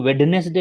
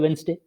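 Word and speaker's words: Wednesday: अब मैं बोला आप तो लिखते तो वेडनेसडे हो मगर पढ़ते हो वेंसडे।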